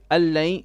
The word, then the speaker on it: أن لن: Allain. The noon on the an we do not pronounce. This drops. We say allain, and then the second one is idgham with ghunna.